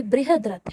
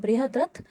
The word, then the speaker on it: बृहद्रथ: बृहद्रथ जो है ये इंग्लिश में आपको शायद पढ़ने में थोड़ा सा प्रॉब्लम आए क्योंकि इसका जो प्रोनाउंसिएशन है वो थोड़ा अलग है। तो ये बृहद्रथ है, ठीक है, बृहद्रथ।